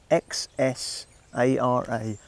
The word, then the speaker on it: Xsara: hatchback, the Xsara, spelt X-S-A-R-A. That's how it's spelt, but you say it Xsara.